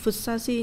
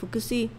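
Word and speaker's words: 福生市: Hình như cái này nó đọc là Fusashi nhưng mà chị ghi nhầm nó thành là Fukushi.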